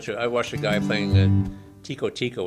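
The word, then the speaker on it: Tico-Tico: a guy playing and Tiko Tiko which they pronounced Chico Chico in Brazil where it's from but I like that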